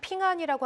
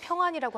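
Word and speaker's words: 平安: 왜 발음은 핑안이라고 하기도 하고 평안이라고 하기도 하는 거 그게 이제 그 한자로 평안이라고 한국말로 했을 때 평안인데 중국어 평안보험이 엄청나게 주가가 올랐어요. 네. 중국어로 기하면 그 발음이 핑안이라고 하니까 이렇게 되는 거 같습니다. 그리고 한국 내보명에서는 핑한 헬스케어라고 나오고 있습니다.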